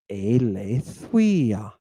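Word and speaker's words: Ἀλήθεια: Aletheia. Aletheia. Now, does everybody hear the digamma? The W sound that comes before this upsilon? It's not aletheia, right?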